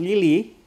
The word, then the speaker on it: Lille: Adalah yang pertama adalah Chelsea versus Lille. Lille ya? Bacanya Lil.